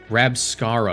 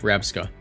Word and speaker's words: Rabsca: Rabscara, I believe that's how you pronounce that one. Rabska? Yeah, Rabska.